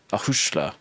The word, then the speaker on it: a chuisle: So the pronunciation video will be really helpful for this, but in that example, there's a slender vowel, and so the S becomes a sh sound, a chuisle.